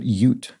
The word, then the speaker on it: Ute: it is uh not ut but yut which makes sense because the state of utah is named after this people and so it stands to reason it would be pronounced that way ute okay bus excursions